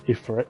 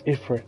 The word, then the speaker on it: Ifrit: First it started with Ifrit. I was like, it's Ifrit, not Ifrit.